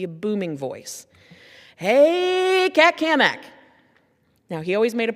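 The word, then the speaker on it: Cammack: Hey, Cat Kamak. Now, he always made a point to say my name right. and he put an emphasis on the Mac because he was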